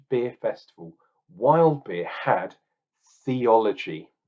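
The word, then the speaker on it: Thiology: Festival wild beer had theology it was called or theology because it's spelled t-h-i-o-l-o-g-y thiols absolutely genius so this was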